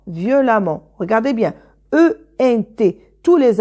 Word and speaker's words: violemment: non voilà violent violemment on garde violent ce sont des objectifs qui se termine pas ent alors on garde le radical eux on ajoute 2ème mais c'est à dire et on prononce à deux consonnes et on prononce à violent violemment regardez bien ent tous